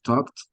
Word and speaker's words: talked: Una es como una T, en este caso que es talked, right? Talked, hacia afuera.